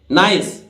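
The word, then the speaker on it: nice: नहीं पहले ठीक है नाइस क्योंकि अंत की आई हुई ई उच्चारित नहीं होती है और सब कुछ सीखने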